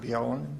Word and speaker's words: Bjelland: And my name is Bjelland, B-J-E-L-L-A-N-D. BJ is Scandinavian, Yeah, so good.